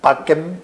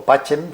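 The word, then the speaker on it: Pacem: Bueno, pues esa encíclica PEM o Pachem, según que se pronuncie como Cicerón o como Adriano Chelentano, Pemin Terris, fue el que le da el Premio Nobel de la Paz a él.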